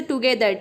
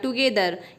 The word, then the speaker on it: together: बहुत सारे वर्ड्स ऐसे हैं जिनमें जी के बाद आई ई वाई तो आता है बट हम वहाँ पर जी का सॉफ्ट साउंड ज प्रोनाउंस नहीं करते हैं। जैसे टुगेदर, TOGETHER टुगेदर, यहाँ पे जी के बाद ई आया है।